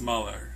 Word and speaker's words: Mueller: Mueller, not Mueller. So if you've been saying it in your head and praying for him to do his job, you may have been saying his name wrong.